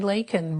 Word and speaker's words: Leikin: Hi everybody, this is Lakin, Rhymes with Bacon.